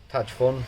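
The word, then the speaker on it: Tajfun: was reliably informed that it's pronounced typhoon there touch fun typhoon typhoon in there in polish and then heavy hitter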